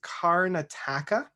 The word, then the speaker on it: Karnataka: but i think it's karnataka okay it's spelt k-a-r-n a-t-a-k so it's like carn attacker and the album is